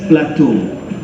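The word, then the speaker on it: plateau: cuma nak perbetulkan sikit pronunciation Plato bukan Plato Plato tu Plato tu daratan tinggi tanah tinggi bila dia bukit-bukit tu tak ada cerun lagi That's platoau Plato adalah ahli falsafah daripada dia bukan Plato Plato ataupun Pluto Tan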